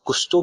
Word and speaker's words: Kusto: I'm sorry many time I pronounce it as the kuto query language okay is kusto query language but yeah in short